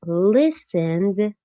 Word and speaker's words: listened: looked but listened ends with a D sound less strong than looked.